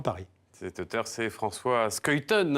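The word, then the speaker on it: Schuiten: cet auteur c'est françois skytone on prononce comme ça quand on est belle je les français disent souvent suite elle mais on va dire skytone même auquel les amateurs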